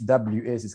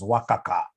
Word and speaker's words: WACC: How do we get this WACC? Can somebody remind us here? There is somebody who pronounced this as Wakaka.